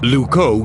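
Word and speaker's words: Loucaux: wrong now what's wrong luco doesn't really rhyme with bordeaux it's spelled completely differently really luco is spelled l o u c a u x you can't write limericks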